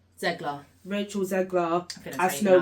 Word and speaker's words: Zegler: Zegler. Rachel Zegler that's as how you Snow pronounce White, because obviously she got a little bit.